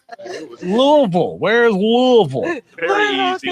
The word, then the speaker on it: Louisville: And how do you say it? Do you say it Louisville or Louisville? The way one I is. say Louisville. Louisville. Yeah. See, they want it to be 2 syllables.